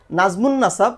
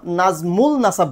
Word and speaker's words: নাজমুন নাসাব: অনেকে আমার নিজের ব্যক্তিগত নাম নাজমুন নাসাব, নাজমুল নাসাব বলে।